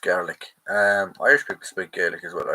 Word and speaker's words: Gaelic: Scottish people speak Gaelic, pronounced garlic.